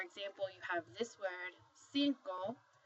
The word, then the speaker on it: cinco: So for example, you have this word, cinco. The C, the first C is followed by an I, so it's going to make an S sound, whereas the second C